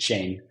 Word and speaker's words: Shein: Our technology powers all the virtual try-on for the second largest e-commerce application, Shein. Some might pronounce it Shane.